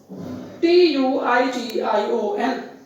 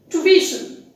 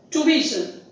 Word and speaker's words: tuition: the correct pronunciation is tuition tuition the stress is on the second syllable and that is B it is pronounced correctly as tuition not as tuition I